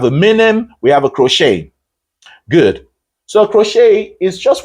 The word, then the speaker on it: crochet: I called it a crochet you don't pronounce it on the face value all right so it's called a crochet the t is silent and the stress is